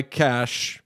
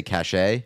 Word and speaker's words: cache: silly thing though so I cleared my cache is that how you say it there uh correct so now that's why nothing came up on us I used to say cachet I think a lot